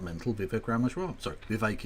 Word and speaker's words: Vivek: Sorry, Vivek, it rhymes with cake, Ramaswamy.